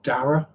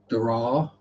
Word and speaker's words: Dara: It's Storm Dara. Dara. Or the people who tried to put the Irish pronunciation on it. Dara. Yeah. No, just go with Dara.